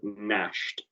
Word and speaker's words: gnashed: Because it's got a silent letter at the start. It's got a silent G.